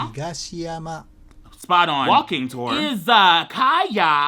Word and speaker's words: Izakaya: Izakaya. Izakuya.